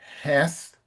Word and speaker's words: Heth: And I it's the th that I didn't hear. The th th can be difficult. So, can you pronounce heth for me, Ellington? Heth. Heth. Okay. So, that's a good good thing to practice. Practice that with Pedro and Lucas because that sound th is not easy for Brazilians.